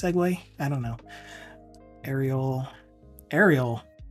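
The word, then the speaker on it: Segoe: why not SEO UI I think this is supposed to be pronounced segue I don't know Ariel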